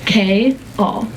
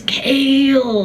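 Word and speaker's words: Chaol: and every single day I say it's K all two syllables K all and he because he's from Philly and he's got this like Philly accent kind of he just goes kale and I'm like no K all Kale like I've never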